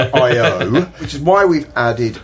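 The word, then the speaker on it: I/O: think we it's one I zero I IO is how you say I think.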